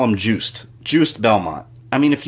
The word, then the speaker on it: Juste: in my timeline video I said you stay and I've heard it announced that way but I've had a couple people tell me it's juste so for the purpose of